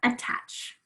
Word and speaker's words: attach: the same space so attach attach where is the schwa first syllable attach attach right so